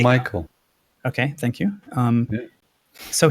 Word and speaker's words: Michael: I don't know how to pronounce his last name. So he Mikhail, wrote. by the way, it's not called Mikhail. Michael.